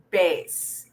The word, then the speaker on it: bass: It may again appear to have the same spelling as the bass, as in sea bass, the fish, but it is pronounced differently because it's pronounced as bass. Say it with me, bass.